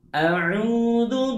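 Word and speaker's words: أعوذ: A'udzu billahi minasy syaithanir rajim. Pertama, ucapkan huruf A dengan sempurna. A, tidak E.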